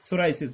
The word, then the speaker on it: psoriasis: ये एक तरह की जो इसमें हमारे पास जो पी है, ये हमारे पास क्या होता है, साइलेंट होता है। पी क्या जी, साइलेंट है सोराइसिस में।